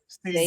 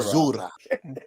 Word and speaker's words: caesura: Like Is we're it about to pronounced do like right that now. though? Caesura, Caesura. Caesura. So yeah, you said Caesura. Caesura, Yes. with like a Z, like Caesura. like Caesura. Zura.